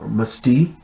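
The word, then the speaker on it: meste: can adds of uh slaves that were musty um it's spelled m-e-s-t-e and also sometimes um it's musty and it's spelled m-u-s-t-e um you'll find ads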